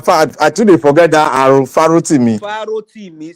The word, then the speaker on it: Farotimi: you how to pronounce his name. Say Farotimi. Oh, now I today forget that Farotimi. Farotimi.